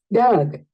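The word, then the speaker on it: dug: ¿Cómo pronuncias esa U? Muy bien. Aquí es donde tienes que mirar y lo más importante con la parte de los verbos irregulares es su pronunciación. Entonces, mira acá. Es un sonido schwa. Es un sonido schwa. Doug, Doug. Es un poco más suavecito.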